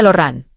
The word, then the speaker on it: Lauren: Eso se pronuncia Loran francés.